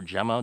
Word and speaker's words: Gemma: And it is a hydraulic brake system from a company called Gemma, or Gemma, depending how you pronounce it, G-E-M-M-A.